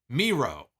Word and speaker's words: Miro: win in the end is it jesus and mero is that how it's pronounced miro okay so it's jesus and miro i know they had